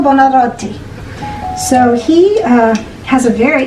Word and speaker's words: Buonarroti: To pronounce his name in Italian, it is Michelangelo Buonarroti. Michelangelo Buonarroti.